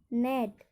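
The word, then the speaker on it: gnat: Sign, design, resign, नेट। यहाँ पर नेट में GN पहले आया तो वहाँ पर भी जी का उच्चारण नहीं होगा, इसलिए हम क्या पढ़ेंगे इसको? नेट।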